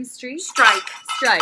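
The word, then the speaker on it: Streich: last name is Street strike strike it's just German strike for German s t r e i c h it's my's fault and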